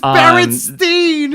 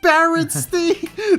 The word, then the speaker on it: Berenstain: But it's Berenstain. It's pronounced Berenstain.